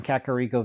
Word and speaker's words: Kakariko: continue on our little looting Excursion here in kakaro Village hey I said it right that time